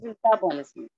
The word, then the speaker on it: metabolism: Metabolism. Metabolism. Metabolism. Metabolism. It is metabolism. Metabolism. metabolism. It is metabolism. Metabolism. Ta is being emphasized.